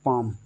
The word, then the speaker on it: palm: L आ जाए, तो L क्या रहता है, साइलेंट। तो यहाँ पर क्या है, इसको पढ़ना है सिर्फ पाम।